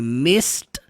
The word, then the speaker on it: missed: que terminam com Ed todos os verbos que terminam com ed você não pronuncia Ed no final Ed missed missed não não tem nada de som do e entenda que você não